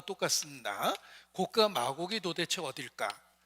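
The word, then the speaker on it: Gog: 그리고 거기를 곡이라고 불렀는데 이 곡이라는 말이 영어로 쓰면은 발음 그대로 똑같이 곡이다. 곡, G-O-G 이렇게 됩니다. 곡과 마곡이라고 써 있는데 발음하고 똑같습니다. 곡과 마곡이 도대체 어딜까?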